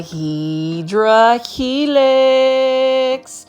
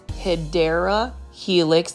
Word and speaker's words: Hedera helix: And you will see right here, we've got a Hydra helix, or the correct way to say it is Hedera helix.